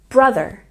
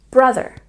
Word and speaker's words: brother: Don't forget to emphasize the first syllable in brother, brother.